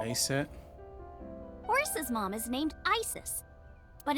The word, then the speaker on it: Isis: Horus's mom is named Isis, but in ancient Egyptian, it's pronounced closer to Isa or Asa.